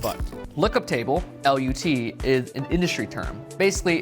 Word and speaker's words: LUT: filming I found out that lookup table is pronounced L like butt lookup table Lut is an industry term basically it's like a